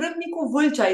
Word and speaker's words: Râmnicu Vâlcea: I mean, Râmnicu Vâlcea is the name of my hometown.